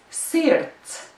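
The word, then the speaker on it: sirds: Latvian children often have difficulties spelling words that have the sound like this. Ts, ts. And that's exactly what you hear at the end of this word. Sirt. Sirt.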